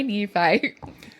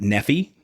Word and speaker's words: Nephi: Some people pronounce it Nephi. That's how you can tell if somebody's from Utah or not.